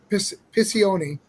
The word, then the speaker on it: Piccioni: I always say his name wrong. Piccioni. I said it right.